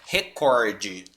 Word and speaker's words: recorde: que tem um acento como ela não tem a pronúncia dela é recorde tá essa é a